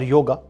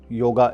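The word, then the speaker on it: योग: So Yog or yoga, I will use the term yoga more, but yoga is a wrong word pronunciation. It is more a Western pronunciation, but the true pronunciation is Yog.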